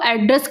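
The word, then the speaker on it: address: तो दोनों का अंतर समझ लो, प्रोनाउंसिएशन का बस सिमिलर अंतर है। एड्रेस बताओगे, बताओ, और क्या एड्रेस करो, किसी को क्या बताओ, एड्रेस। यहाँ ए पे हम जोर देंगे और वहाँ पर डबल डी पे जोर, एड्रेस करो, किसी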